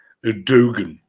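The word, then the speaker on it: Erdoğan: it years ago that the G with the that inverted circumflex is not pronounced so dogen if you will that sounds like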